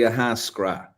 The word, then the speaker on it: Ahascragh: um the locals say aasra okay aasra so you don't pronounce the GH at the end a lot of Irish